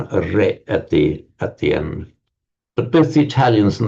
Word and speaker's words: est: Now if you look at what happens in French, sorry, in in Latin, you get um est which you is in French written exactly the same but just pronounced E and in Italian written as E.